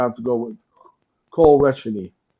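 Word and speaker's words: Reschny: I'm going to have to go with Cole Resheny. How do you pronounce his name? Resheny? Is that how you pronounce his name? Yeah, Reshny.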